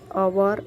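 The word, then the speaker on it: hour: तो इसका मीनिंग ह नहीं होता, अ होता है। एच साइलेंट है, सो ओवर AEIOU, तो यहाँ पर एन लिखना है।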